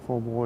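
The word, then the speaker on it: phở bò: And of course, Mai Tai, that just means, you know, Thai style, but pho bo is how you say that, Vietnam beef soup.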